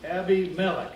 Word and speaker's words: Abimelech: It's a name, it's Abimelech, is actually how it should be pronounced.